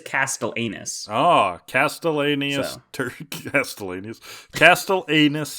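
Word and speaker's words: castellanus: Cloud but it is it is spelled uh c-a-s-t-e-l-l-a-n-u-s so it is Castle anus ah castellanius turkey Castle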